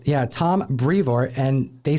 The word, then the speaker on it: Brevoort: Tom Brevoort is how Donny Cates pronounced it. Yeah, Tom Brevoort.